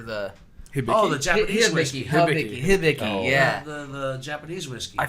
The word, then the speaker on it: Hibiki: Hideki? Hideki? Is that how do you pronounce it, or what is it? What? Dickel? No, the Hideki. The Dicky. The Hideki or the Oh, the Japanese whiskey. Hibiki.